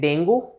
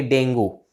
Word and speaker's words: dengue: लेकिन गाइज आपको ये जान के थोड़ी सी हैरानी होगी कि इसकी करेक्ट प्रोनाउंसिएशन डेंगू ऐसे नहीं है। इसकी जो करेक्ट प्रोनाउंसिएशन है वो है डेंगी, डेंगी, यस। अगर इंग्लिश में बात करें तो इसकी करेक्ट प्रोनाउंसिएशन है डेंगी, डेंगी, like that, डेंगी, okay.